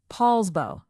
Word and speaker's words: Poulsbo: And number one is Poulsbo, pronounced Poulsbo, on Liberty Bay in Kitsap County.